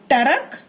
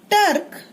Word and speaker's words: ट्रक: अगला शब्द टरक, टर्क, ट्रक। सही शब्द क्या है? ट्रक। टर्क गलत शब्द, टरक भी गलत शब्द।